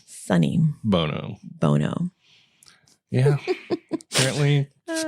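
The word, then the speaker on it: Sonny Bono: babe what are you Sony Bono Sony Bono so I can't even say it right now it's sunny sunny Bono Bono yeah apparently just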